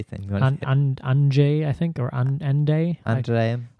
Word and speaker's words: Andrzej: Andrzej, I think, or Andrzej. Andrzej. Andrzej Duda. I learned something about this DRZ construction. I think it's Andrzej or something.